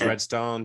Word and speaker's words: Redstone: And the last name is Redstone, just the way like it's pronounced.